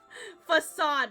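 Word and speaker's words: façade: Facade, right?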